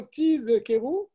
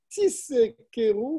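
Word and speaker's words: תזכרו: Lorsqu'on arrive au mot Tiz Keru, il faut bien prononcer le Zayin. Et pareil dans le mot Uzechartem. C'est un Zayin. Shelo Tidme Kriyata le Samer. Parce que si tu ne prononces pas le Zayin, on va le confondre avec un Samer. Et donc ça va changer le sens.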